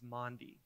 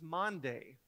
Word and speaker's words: Maundy: and that word is Maundy today is Maundy Thursday but for the first 20 years of my life I thought it was Monday Thursday I always heard it